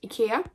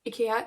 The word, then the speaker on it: IKEA: when we were at IKEA. IKEA is the way that we pronounce it in Sweden, or at least my family does. But then IKEA is most common maybe for most of you.